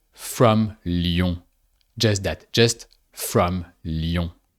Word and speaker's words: Lyon: The city of Lyon. So li on and we bind the i sound and the on which makes ion. Lyon.